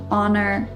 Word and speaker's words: honor: know in the comments h is often silent at the beginning of words for example the words honor and hour but then as an